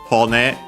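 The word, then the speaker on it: 骨: But yeah, hone, accent on the last syllable. So actually, last moram, in this case, doesn't change either way.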